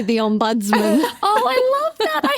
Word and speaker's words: Ombudsman: Ombudsman.